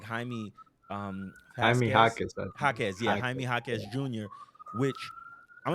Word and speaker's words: Jaime: think you say yeah you gotta say it like Jamie but yeah you know it's you know he's the like Mexican descent um so I believe it's like Jaime um yeah Junior which